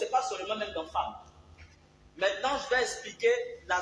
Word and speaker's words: femme: Femme, il s'écrit F-E-2-M-E, qu'on ne lit pas femme ou femme. On aurait pu écrire avec A.